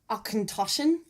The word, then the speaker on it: Auchentoshan: I believe this is pronounced Auchentoshan.